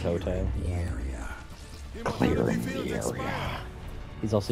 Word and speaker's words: Quixote: I like how the word quixotic comes from Don Quixote, a man whose name is not pronounced like that. Quixote.